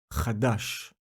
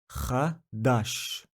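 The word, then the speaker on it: חדש: The word is pronounced Chadash. Chadash.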